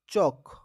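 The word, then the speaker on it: chalk: टॉक, चौक, इसमें L silent है। टॉल्क मत पढ़ना प्यारे बच्चों, इसको चाल्क मत पढ़ना।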